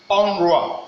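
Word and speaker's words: un roi: And let us see how the thing is being pronounced. Here we have onduat. Onduat. That is talking about finger. Then here we have onrua.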